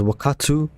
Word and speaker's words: Wakaatu: So I'm going to pronounce it as Wakaatu, simply because that's how Lahni and her people would have pronounced it.